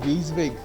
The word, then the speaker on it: WYSIWYG: It's pronounced WYSIWYG.